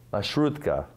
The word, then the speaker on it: Маршрутка: Как это произносится? Маршрутка.